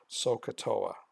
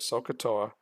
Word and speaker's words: SOHCAHTOA: so kah Toa okay so if you break it up into three parts it actually